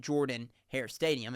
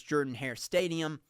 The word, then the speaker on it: Jordan-Hare Stadium: Many Auburn fans pronounce it Jordan-Hare Stadium, and that's not correct. That's pronouncing it like my cousin Jordan.